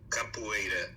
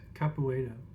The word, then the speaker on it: capoeira: Capoeira. Capoeira.